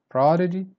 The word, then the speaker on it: prodigy: again predominant the dada prodigy start strong then you go down prodigy prodigy back lose wreck